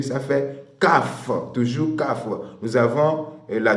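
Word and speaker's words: כ: Et cette lettre se dit Kaf. Kaf s'écrit comme nous écrivons notre C, la lettre C.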